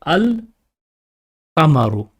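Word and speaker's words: القمر: In Qamari letters, we read this very clearly. The lam is pronounced. We say al qamaru, al qamaru. Or for example, if you use another letter, al hajju or al baytu. Al is pronounced very clearly.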